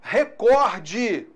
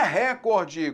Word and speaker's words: recorde: a palavra rubricá cuidado a palavra recorde é paroxítona não é recorde como alguns pronunciam aí então principalmente com cursos